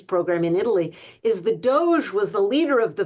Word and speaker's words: DOGE: Um, they call it the Department of Governmental Efficiency, which the acronym for which is DOE, which is pronounced Doge.